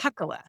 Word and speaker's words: Hakkola: How do you pronounce it? Hakkola.